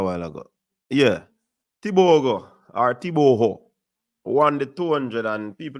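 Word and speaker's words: Tebogo: All right, so Tibogo, oh, by the way, my Botswanan friend gave me the proper pronunciation of his name is Tiboho.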